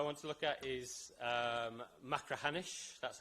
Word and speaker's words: Machrihanish: The third case I want to look at is Machrihanish. That's how you pronounce that word, if you were wondering.